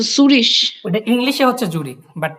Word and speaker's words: Zürich: ওকে, সুরিশ। ওইটা জুরিক হবে না? আচ্ছা, সুরিশ। ওটা ইংলিশে হচ্ছে জুরিক, বাট ডয়েচে হচ্ছে সুরিশ।